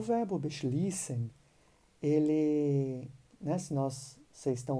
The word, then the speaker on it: beschließen: Então, isso torna a pronúncia da vogal bem longa, tá?